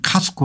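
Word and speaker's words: Costco: 그룹의 부회장을 집중 조명했다 미국의 코스코이 이제 현재선 카스코 이렇게 발음하죠 월마트 예 엘버스 등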